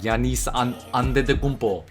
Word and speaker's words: Giannis: that real and then his pronunciation of giannis is almost too perfect he's like yanis like he's giving the accent and everything i love the